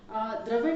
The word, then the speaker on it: द्रविड़: द्रविड़ है, द्राविड़ हम गाते हैं। द्रविड़ मतलब जो साउथ इंडियंस होते हैं उन्हें द्रविड़ कहते हैं, द्राविड़ नहीं है।